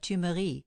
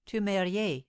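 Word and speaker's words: Thumery: an immigrid by the name of two Marie which the German servants pronounced tumerier and the Spy reported that the French traitor du maurier was with the Duke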